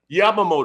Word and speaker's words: Yamamoto: How you pronounce it? Yamamoto.